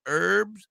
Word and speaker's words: herbs: a free joint tailored herbs and concentrates oh you got to get rid of the H Garrett if he doesn't like the H the H is silent it's silent it's herbs I'm speaking